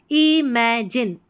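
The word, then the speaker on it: imagine: एम ए में और इसको जी आई एन को जाइन नहीं जिन पढ़ना है जी आई एन ई जिन इमेजिन इमेजिन अ young Y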